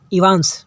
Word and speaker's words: Evans: ठीक, बोलते हैं तुमने इनवास बोला था तो इनवास नाम है, तो बोलते हैं कि इवांस, सॉरी इनवास बोल रहे हैं हम, इवांस प्रोनाउंसिएशन में ध्यान दीजिएगा, इवांस।